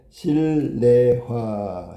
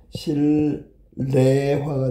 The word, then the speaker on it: 실내화: 실내화도 똑같아. 실레화. 신뢰화도 발음하면 실레화가 돼야 되겠죠.